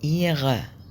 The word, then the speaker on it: ihre: ما بننطقش الها، هتبقى إيغا، ولا هننطق الار اللي في الآخر، بتبقى إيغا.